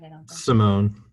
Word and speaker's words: Simone: right i don't know simone the moan matt started his career